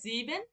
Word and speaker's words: sieben: Null, হুম, eins, zwei, drei, vier, fünf, sechs, sieben, জিবেন, acht, জিবেন, এখানে উচ্চারণটা ঠিক করেন, জিবেন।